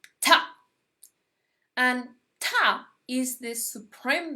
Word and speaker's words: Ptah: Yes, the pronunciation is Ptah.